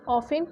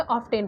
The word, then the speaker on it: often: अब बहुत सारे लोग ऑफन को ऑफ्टेन पढ़ते हैं क्योंकि इसकी स्पेलिंग क्या होती है OFTEN, तो इसको ऑफेन की जगह ऑफ्टेन पढ़ते हैं, बट इट्स नॉट ऑफ्टेन, इट्स ऑफेन। यहाँ पे टी जो है वो साइलेंट रहता है, इसलिए ये हमारा ऑफेन होता है।